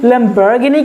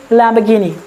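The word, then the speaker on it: Lamborghini: कुछ लोग इसे लैम्बोर्गिनी कहते हैं, कुछ लोग इसे लैम्बोर्गिनी कहते हैं। कम ऑन, इसका सीधा और एक बहुत ही सिंपल सा प्रोनाउंसिएशन है, ना ये लैम्बोर्गिनी होता है ना ये लैम्बोर्गिनी, इट्स लैम्बोर्गिनी, that's it, इट्स लैम्बोर्गिनी, right.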